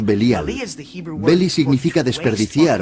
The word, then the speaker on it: Belial: Belial es una contracción de dos palabras hebreas, Beli y Yaal. Beli Yaal, que nosotros pronunciamos Belial.